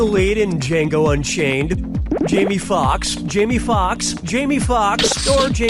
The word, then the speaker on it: Foxx: in Django Unchained Jamie Foxx Jamie Foxx Jamie Foxx Georgie players 1 & 2 that sounds really baby Fox's last name has two x's in it the first X is silent okay fine I was